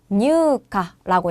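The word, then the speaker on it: 入荷: 그러면 요것도 유라고 길게 읽을 건데 요음이 되어서 뉴카라고 해요.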